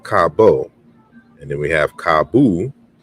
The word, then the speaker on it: cabo: and then we have kabu, right? So we have there's a correspondence here, and the final O is pronounced U in Portuguese.